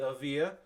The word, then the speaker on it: Evija: this the Lotus Avia I'm double checking my pronunciation I believe Lotus Avia yes the Avia um uh which is